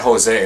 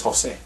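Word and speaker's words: José: It's not Jose. It's Jose.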